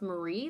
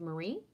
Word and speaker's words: Marie: it takes discipline yeah i am mary pronounced marie though but marie i got a little